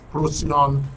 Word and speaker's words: Procyon: on YouTube and Facebook if you go to proon RTV at prion RTV on Facebook and of